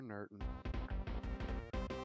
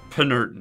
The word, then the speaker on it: Penurton: I guess you'll be hurting for a nerdin'. No, it's Penurton. You gotta pronounce the P.